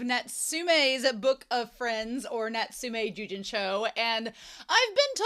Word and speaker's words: Natsume: book of friends or nsum Jen show and I've been told that I've been saying it wrong I call it netsi when it's nsum look y'all if you've